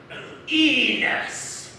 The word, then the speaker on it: Enos: looking for it ah enos yes rhymes with penis yes he's a clan